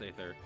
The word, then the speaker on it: Aether: knows how to pronounce Aether being fair it's a bloody tough word who pron who decided AE should be pronounced e it should be a I or maybe a sunny